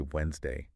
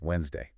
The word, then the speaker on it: Wednesday: A lot of people I hear say Wednesday, Yeah, very common. and that D sound really comes out. But the way native speakers usually say it is Wednesday. Wednesday, exactly. So that D is silent.